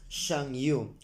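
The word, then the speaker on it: Chanyu: under the leadership of the Changyu, pronounced Shangyu, a title which later evolved into Hagan or Han.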